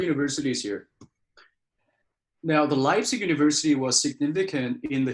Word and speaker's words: Leipzig: Okay, so on the third one, we've got, I think it's, I don't know how to pronounce it. Is it Leipzig? Yeah, Leipzig, that's good.